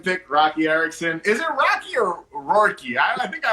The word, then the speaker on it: Roky: Is it Rocky or Rourke? I think I always pronounce it. It's Roky Erickson.